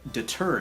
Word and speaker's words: deter: And this is why I avoided using the word deter in my lyrics, because the music accents the first vowel, and the word deter accents the second syllable.